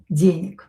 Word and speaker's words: денег: a little bit, money, денег. This G here will be pronounced as K. Денег, because voiced consonant located at the end of the word will become unvoiced.